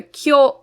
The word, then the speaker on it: 去: a little different because the kyo in this case is a short o sound not a long o sound like we have in the word meaning today so our first stroke